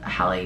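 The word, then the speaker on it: Halle: my God I'm gonna get it wrong um Hallie Bailey yeah that's it oh my God I thought I was pronouncing wrong because I know that it's like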